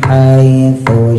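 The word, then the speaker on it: حيث: Radan haitsu syi yang pertama sa tipis ujung lidah keluarin digigit ya ditempelin ke gigi atas.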